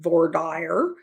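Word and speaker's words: voir dire: what we call voidir some people pronounce it vorder I learned it as voidir that is the questioning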